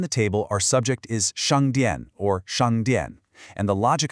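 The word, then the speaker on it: 商店: For shāngdiàn, let's start with that sh sound. This is what we call a retroflex consonant.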